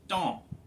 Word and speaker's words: dent: a pretty easy answer the word for teeth is don it's spelled like dent so that shows two